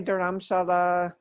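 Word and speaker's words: Dharamshala: okay so i mispronounced it how do you say it some people say duramshala you know anyway i get the sense of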